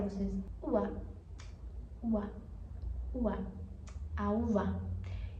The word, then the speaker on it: uva: vocês no espar argentina que o V ele é pronunciado como B. Sim, o V e o B tem o mesmo som. Então você poderia falar assim, uba.